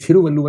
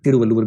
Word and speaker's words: तिरुवल्लुवर: आप स्पेलिंग देखेंगे, अंग्रेजी में लिखा होता है TH, थ, उसको बोलते हैं त। तो वहां का जो त है वो त और थ के बीच का होता है। इसलिए ये थिरुवल्लुवर भी होता है, तिरुवल्लुवर भी होता है।